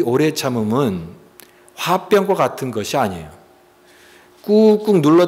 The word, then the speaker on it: 화병: 화병. 그래서 발음도 화병, HWABYUNG, 화병, 이게 화병이에요. 가슴에 이 응어리진 것을 계속 표현하지 못하고 참고 누르니까 이게 나중에 병이 된 거죠, 병.